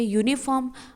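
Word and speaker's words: uniform: तो हम इसको बोलते हैं यूनिफॉर्म। फर्स्ट लेटर हमारा य है। य य हमारा है कंसोनेंट।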